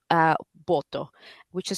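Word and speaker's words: Botho: But Botswana, interestingly enough, has a similar concept to Ubuntu, and it's called uh BTO, which is spelled B O T H O.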